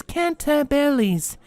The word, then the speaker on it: Cantabile: This word isn't said the way it's spelled. Its proper pronunciation is Cantabiles.